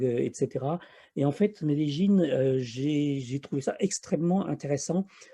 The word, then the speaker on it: Medellín: Notre étape suivante, c'était Medellín qu'on prononce en fait Medellín.